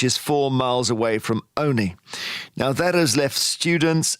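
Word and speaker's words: Olney: an hourly service between Oni which is spelled o n sorry o-l-n-e-y and Bedford which is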